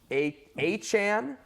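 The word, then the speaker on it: Achane: courland Sutton for the Denver Broncos Devon uh a aan now is how you pronounce his name Devon aan just looks like a superstar granted he's not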